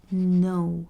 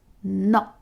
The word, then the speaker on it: no: you don't want anything we don't actually say no as you would say in english we'd say no it's a bit shorter like if you were going for a no and you just stuff it you go no and see okay so